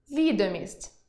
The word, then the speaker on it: відомість: – родовий відмінок від слова «вага»); вІдомість (документ) і відОмість (популярність); зАклад (установа) і заклАд